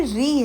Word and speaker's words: ऋ: तो यहां पर बहुत लोगों को मैंने देखा है कि वो री को रू बोलते हैं। ये ऋ है री।